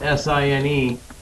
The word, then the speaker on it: sine: We call that the sine ratio, even though it's spelled S-I-N-E. That's why it's called sine.